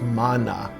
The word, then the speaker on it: manna: No, what that word, we say manna, the proper pronunciation is manna.